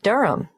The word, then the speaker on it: Durham: at one uranga street durham how do you spell durham d-u-r-h-a-m of course i should know that but it's just one of those names that sounds quite different from the way you spell it it is confusing i've